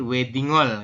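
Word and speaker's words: 웨딩홀: akhir tuh untuk Hnya untuk hya tidak dibaca karena di akhir betul jadi wedingol kayak gitu ya wedingol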